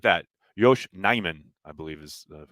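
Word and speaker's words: Yosh Nijman: you thanks for tuning in how do you pronounce yosh neumann well not like that yosh neyman i believe is the correct pronunciation uh billy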